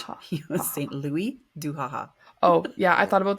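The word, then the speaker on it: Saint-Louis-du-Ha! Ha!: First of all, you're not going to pronounce the S because it's French. Haha. He was Saint Louis du Haha.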